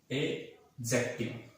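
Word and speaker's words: adjective: तीसरा जो होगा हमारा, इसको आप पढ़ेंगे तो आप इसको एडजेक्टिव नहीं पढ़कर इसके अंदर आपको डी जो है उसको साइलेंट समझना है। आप इसको पढ़ेंगे एडजेक्टिव, यानी आप इसमें इसको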